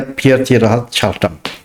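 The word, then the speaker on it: Pierre Teilhard de Chardin: Tulisannya itu Piere Tielhard Chardin dibacanya Pierhard Shardam.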